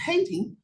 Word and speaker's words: Hayti: and Black students from Hayti, Missouri, which for the rest of the world is pronounced Haiti.